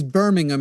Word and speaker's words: Birmingham: In what way is Birmingham, it's pronounced, by the way, it's not Alabama.